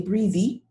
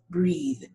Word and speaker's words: breathe: number 19 to say breathy no the e is silent it's breathe okay anthropologists healthy unworthy